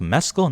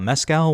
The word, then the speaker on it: Mescal: Paul Mescal, which I guess it's pronounced Mescal, not Mescal.